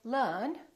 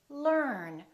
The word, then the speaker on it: learn: consonant let me explain British people would say learn Americans would say learn so we have this